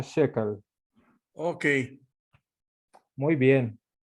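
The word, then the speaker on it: Schökel: o K e l así se escribe pero se pronuncia Chécale Okay muy bien y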